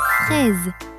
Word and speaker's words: fraise: Quand S produit le son Z, la lettre S se prononce Z lorsqu'elle est placée entre deux voyelles. Par exemple, dans fraise, le S est placé entre deux voyelles, le I et le E. Fraise, Z, fraise. Et poison, le S est